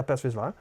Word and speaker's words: Paz Vizsla: So the first one is Paz Vizsla. Did I say it right? Yeah, Paz Vizsla.